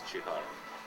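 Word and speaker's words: Csihar: The pronunciation of C and S is ch. Ch. Yeah, so right way to say it's Shihar.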